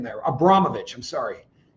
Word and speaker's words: Abramovich: I'm probably saying that Abramovich, I'm sorry, no ch on the end of it. just a C, but everybody I've seen pronounces it um Marin Abramovich.